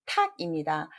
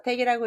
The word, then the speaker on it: 목탁: 이거는 목, 정답은 탁입니다. 이게 택자 발음 많이 하죠? 그래서 택이라고 읽으신 분은 오답이십니다.